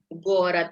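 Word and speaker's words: город: Nah, berikutnya ada gorat. Gorat. Ya, Gorat. karena di belakang D, berarti kita bacanya seperti D, gorat.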